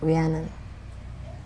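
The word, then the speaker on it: Rhiannon: Um, it it's it's like if Christine pronounces it in Wales, it's really like Brian with a trill almost at the beginning.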